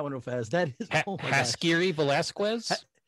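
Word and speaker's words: Haskiri Velazquez: That is Jaskiri Velasquez? Jaskiri Velasquez, yes.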